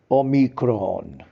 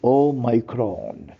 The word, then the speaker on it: omicron: course 19 known as omicron real pronunciation is o micron o micron is a greek word that is number 15 in alphabet meaning of o micron